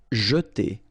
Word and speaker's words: jeter: Jeter. Okay, so here, really this je, and then et.